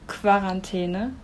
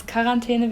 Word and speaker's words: Quarantäne: It's not Quarantäne, it's Quarantäne because it's a French word. The pronunciation of QU as K isn't common in German though.